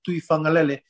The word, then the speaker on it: Tuifagalele: So the G, when you pronounce the G like Tuifagalele, that G is pronounced as like NG. Yeah, as in singer, right? It's like singer.